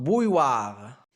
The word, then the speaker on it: bouilloire: المقطع الأول boy يمكن تحديد الحرفين OU تنطق OU comme le mot vous. Et deux L se prononce A comme le mot taille. OU تنطق wa, comme le mot toi, donc bouilloire. J'ai mis de l'eau à chauffer dans la bouilloire.